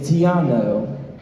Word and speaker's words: Tiano: Hello, my name is Tiano. Awesome. Rhymes with piano.